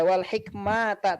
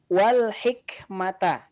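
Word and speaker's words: وَالْحِكْمَةَ: Ya, tadi satu saja catatan saya pada kalimat wal hikmata ya. Hikmah. Hi-nya dibaca lembut ya. Sama seperti Al-Hakim. Al-Hakim tadi sudah bagus.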